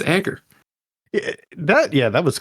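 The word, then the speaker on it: Egar: And it's the best part of it is it's spelled E G A R. It's not Edgar. No, Edgar.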